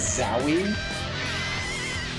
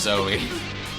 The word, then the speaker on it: Zowie: His name is Zowie. Yep, pronounced Zoe. Zowie. It's definitely Zowie.